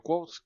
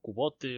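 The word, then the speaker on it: Kvothe: Tenemos a un personaje que es Quoth, que nadie sabe bien cómo se pronuncia, o Cubote, o Quote, o algo así, pero el oficial, por así decirlo, es Quoth.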